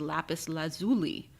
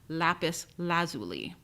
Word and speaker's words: lapis lazuli: There are two ways to pronounce this stone. The first is lapis lazuli, and the second is lapis lazuli. It really depends on the region you live in, but the standard dictionaries in the United States place the stress of the second word on the first syllable, lapis lazuli.